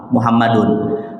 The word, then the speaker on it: Muhammadun: Pertama, Pak, kalau berdasarkan kaidah bahasa Arab, Ja'a Muhammadun karena dia fa'il, karena dia subjek dari perbuatan, Muhammad datang. Maka dalam kaidah bahasa Arab, fa'il itu tanda bacanya adalah marfu, tandanya dhammah. Maka dia dibaca Muhammadun.